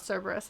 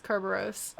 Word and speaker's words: Kerberos: got like a kerberos it's not cerberus it's kerberos um and maybe they'll